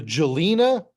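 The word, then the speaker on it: Žilina: oh let's I don't even know how to pronounce this the jelina region z i l i n a the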